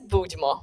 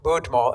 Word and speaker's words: Budmo: you mentioned the name of your book so pronounce it for us so that everybody can hear this the name is budmo budmo and what does budmo mean that means cheers